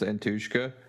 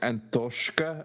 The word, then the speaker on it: Antoshka: It's like Antoshka or something like that. That's funny. Because it's supposed to rhyme with Kartoshka.